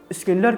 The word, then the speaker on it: Schindler: और इसको हम पता नहीं हम क्यों शिंडलर बोलते हैं, पर ये स्किंडलर होता है।